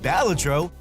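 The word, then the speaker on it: Balatro: To start, while the name remains a topic of debate, it is pronounced Balladro according to this trailer and it is a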